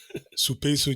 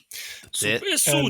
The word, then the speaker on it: Supeisu: Supeisu Juggler. Supeisu Juggler. You've got to emphasize the certain points.